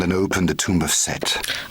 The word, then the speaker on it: Set: You have found and opened the tomb of Set. I always thought it was Seth.